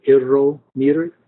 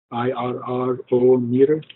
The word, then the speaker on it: irrometer: Another name for it is called irrometer, IRRO meter, irrometer. I hate to say R, so I like to say tensiometer, but easier to pronounce.